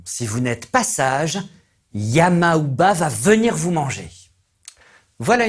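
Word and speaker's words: Yamauba: À cette époque, le nom de Yamaouba, qui signifie la vieille de la montagne, et se prononce également Yamamba, était synonyme de terreur.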